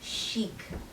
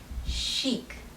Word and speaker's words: chic: word again is lingerie the next word is chic it's pronounced again as chic chic the meaning of this word is someone or